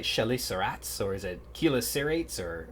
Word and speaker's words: chelicerates: he's investigating the evolution of, how do we pronounce this? Is it French, like chelicerates, or is it chelicerates, or how do we pronounce that?